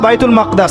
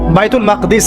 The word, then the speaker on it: বাইতুল মাকদিস: এবার এই বোরাক চলে গেল বাইতুল মাকদাস। এটা কোথায়? বাইতুল মাকদিস, সরি বাইতুল মাকদাস না, বাইতুল মাকদিস। বিভিন্ন মানুষ বিভিন্ন উচ্চারণ করে।